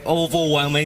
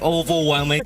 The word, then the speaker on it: overwhelming: is the word overwhelming the problem with it is that the word over in the front of the word is not stressed and if we pronounce them very prominently overwhelming it would sound a little unnatural especially when he was saying it almost like overwhelming oval overwhelming we'll try to say the word without focusing too much on the over part overwhelming but more on the well part so we would say